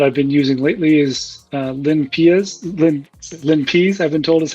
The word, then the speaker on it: LinPEAS: The one that I've been using lately is LinPeas, I've been told is how it's pronounced.